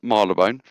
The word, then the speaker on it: Marylebone: it Marleybone? That one's not that bad, That's is it? what it's spelled like, but it is Marylebone.